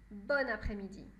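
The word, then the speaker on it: bonne après-midi: qu après midi et parfois masculin parfois féminin les deux sont possibles mais dans les deux cas on prononce bonne bonne après midi d'accord on peut aussi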